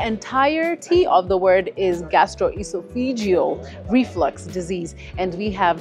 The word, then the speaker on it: gastroesophageal: Thank you so much for having us today as we discuss more about this thing that I can barely pronounce. So we said it's gastroesophageal.